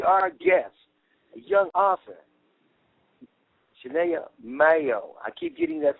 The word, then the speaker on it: Saniyyah: it first of all excuse me for getting your first name wrong tell the people out there your first name samia shania mayo right yes yes okay shania mayo tell